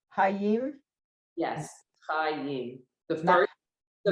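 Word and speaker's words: חיים: Chayim.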